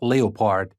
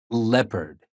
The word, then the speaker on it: leopard: e o in words like leopard it's not leopard it's leopard and of course the most common spelling of